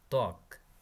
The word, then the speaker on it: ত্বক: শব্দের আদিতে ব ফলার উচ্চারণ হয় না, যেমন ত্বক, শ্বশুর, স্বাধীন।